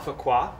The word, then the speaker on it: Fuqua: Allison, I don't really know how to pronounce her last name. Fuqua. Fuqua, great, is playing Jean-Michel's fiancée, Anne, and her parents are played by Claudia King and Joe Arioli.